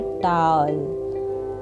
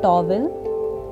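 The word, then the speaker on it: towel: इसको सही बोलने का तरीका है टॉल, टॉल। और इसको गलत बोला जा सकता है टॉवल, but this is wrong pronunciation. My second word is brush.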